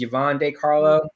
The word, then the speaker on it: Yvonne De Carlo: It's Yvonne De Carlo.